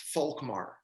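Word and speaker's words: Volkmar: name now it's gonna it's a german name but it's pronounced folk mar okay and it's spelled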